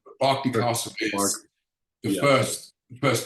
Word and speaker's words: Berkeley: and I came across Barkley Castle you say Berkeley in America Barkley Castle is the first